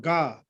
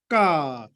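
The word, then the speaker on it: ཀ: This not ga. Ka. English may be K A like ka or K H A sound ka. Ka.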